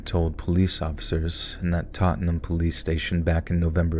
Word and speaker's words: Tottenham: looking gentleman told police officers in that tot Tottenham Tottenham Tottenham is that how you say it tottingham Tottenham the whole city smells like Tottenham Tottenham